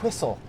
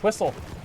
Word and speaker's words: whistle: and coip Cool Whip the H is not silent I was taught to